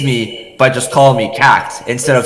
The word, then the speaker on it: CAGT: pronounce it as c-a-g-t i would pronounce each letter because i thought it sounded cooler and i thought it